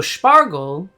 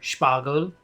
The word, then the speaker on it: Spargel: So Spargel, or Spargel, depending on how you want to pronounce it, is German for asparagus.